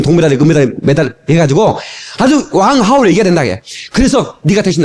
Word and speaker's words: 왕하오: 왕하오. 이게 중국식 발음으로 들어야 되는데 성이 어디 갔어?